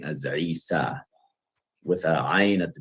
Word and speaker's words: Isa: And some reading traditions render it as Isa as well. As a non-Arabic speaker, I'm not particularly good at pronouncing that initial ayn, a letter produced in the back of your throat called a pharyngeal consonant.